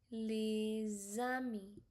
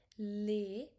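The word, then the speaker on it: les amis: You're going to use Z soft sound here. So it become leami. Lami leami leami instead of saying lei because s you don't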